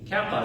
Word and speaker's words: kappa: Kappa is going to be like kin.